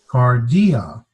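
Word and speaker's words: καρδία: one there's two sylheti there's three syllables there's the first syllable here and this is not a diphthong so we'll separate that so there's car D kardea what does kardea sound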